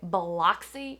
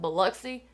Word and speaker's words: Biloxi: is a dead giveaway anytime you hear somebody say biloxi instead of biloxi they're a fake she just did a